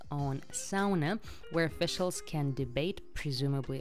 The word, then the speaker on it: sauna: matt from now on i'm gonna pronounce it as sauna uh which is finnish pronunciation so estimated number of